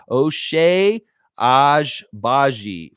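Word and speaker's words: Agbaji: O'Shea Ajbaji for pronunciation.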